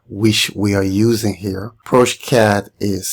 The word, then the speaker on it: progeCAD: ProCad is spelled P R O G E C A D.